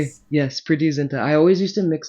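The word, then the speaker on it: Preity Zinta: yes, Priti Zinta.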